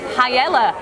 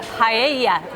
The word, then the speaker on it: paella: For today's video, we're bringing you for a paella, or paella, should I say. I must get my pronunciation correct on that before I get told off.